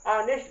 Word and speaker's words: honest: जैसे यहाँ पे है, देख लीजिए HONEST, अब इसको हम क्या, होनेस्ट पढ़ सकते थे, लेकिन होनेस्ट न पढ़ के इसको पढ़ेंगे ऑनेस्ट पढ़ेंगे। क्या पढ़ेंगे, ऑनेस्ट पढ़ेंगे।